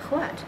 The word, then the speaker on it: what: But actually, the proper pronunciation in English is to say the H first. In British or stage English, they do that. They will say what, when.